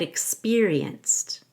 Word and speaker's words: experienced: The X sounds like a KS, X. The peer sounds like P long E and then YER. Expeer. And then we need to say rience, rienced. Re has a long E, and you connect it